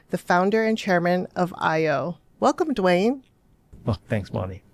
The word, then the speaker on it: Io: We say IO when we started we said AIO because we felt that somebody well people outside of Hawaii couldn't pronounce three vowels in a row. So for the longest time we said AIO. But truly it's a Hawaiian word.